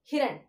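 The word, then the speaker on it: हिरन: If it is the symbol of E, I will give some stress to ha. But it's a symbol of E. So I'm not giving any stress. So how will I pronounce it as Hiran?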